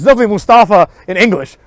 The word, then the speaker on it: Mustafa: First of all, it's neither of those, it's Mustafa. Okay, that's how you would pronounce it in any kind of like Muslim-y language. It's not Mustafa. Right? That's like a weird person's way to pronounce it. Right?